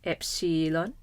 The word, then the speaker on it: epsilon: The name of the letter is epsilon.